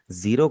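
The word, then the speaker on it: ゼロ: बता रहा हूँ कि जापानीज में जब भी आपके सामने ए का लेटर आएगा हमेशा वहां पे ए की आवाज ही लगेगी, कभी भी आपने ई की आवाज नहीं लगानी। इसीलिए ये जेरो पढ़ा जाएगा, इंग्लिश की तरह जीरो नहीं पढ़ेंगे इसे।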